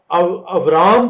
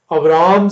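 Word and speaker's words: Avram: खुदा ने ये जो वादा अब्राम से किया, हिब्रू में अब्राम नहीं है, बी साउंड नहीं है, वी साउंड है, इसलिए अब्राम नहीं अब्राम जो है प्रोनाउंसिएट होता है।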